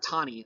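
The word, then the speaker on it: Taney: the supreme court and um chief justice robert tawny that's how you say his name looks like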